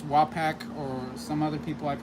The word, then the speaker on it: Wapak: Um for me it's Wapak or some other people I've heard them say uh what way way pack way pack? For me it's Wapak, but if I'm mispronouncing it, let me know, guys.